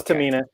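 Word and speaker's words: Tomine: you right cuz yeah I'm right it's Tamina and in fact you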